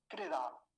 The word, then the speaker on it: कृदा: दूसरा शब्द देखिए, कृदा, कृदा। अब क्रदा नहीं बोलेंगे, ये क्या है?